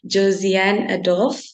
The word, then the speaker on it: Josan Adol: all right um so my name is Josan adol I'll say this again my name is Josan the pronunciation is Josan adol um I'm a law